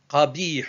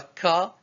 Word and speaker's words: ق: Qabi hun. Répétez après moi. Qabi hun. Ce n'est pas ka, c'est qa. Qa. Qa, c'est la 21e lettre de l'alphabet. Elle est un peu difficile à prononcer.